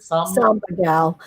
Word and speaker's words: Samba Gal: How do you pronounce it? Samba Gal. Samba Gal.